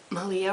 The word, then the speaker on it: Malia: raising everybody knows about Malia rhymes with Maria um she is she's